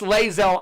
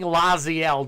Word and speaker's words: Lae'zel: Lae'zel. Nero, Wild Mage, and Windshaper Planetar. Or Planetar, however you want to say it. You're right, it's Lae'zel. I keep saying Laziel, don't I?